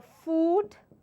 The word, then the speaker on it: food: have actually analyzed it this word takes the long vowel sound which is your you sound like they've just discussed so this is your food and then we have second word as foot that is a short sound the you sound the shot o sound is this this particular word so once again it's